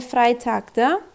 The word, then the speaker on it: Freitag: Ve Freitag'da e-i yazıldığında i olarak okunur. Freitag.